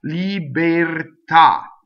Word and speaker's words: libertà: So we know that the E in this word is closed because the accent is on the ah, right? The accent of the syllable is on the ah. Libertà. So the E is automatically closed.